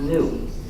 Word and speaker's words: gnu: countless word plays because according to the dictionary the g is silent and it's pronounced new so every time you